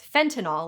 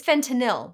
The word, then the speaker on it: fentanyl: People have a habit of saying the name of this highly addictive opioid as fentanyl, like Tylenol. It's fentanyl, like Benadryl.